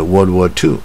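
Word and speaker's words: World War II: 这个这是一些罗马它的用法，这 World War Two 啊。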